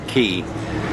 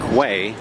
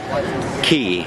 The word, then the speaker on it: quay: that it would be way that's how we would pronounce it but they pronounce it key so I am here